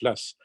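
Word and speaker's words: Law: Le système de l'AS, et on prononce l'AS, c'était simplement le fait de passer au papier-monnaie.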